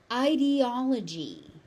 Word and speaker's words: ideology: Ideology.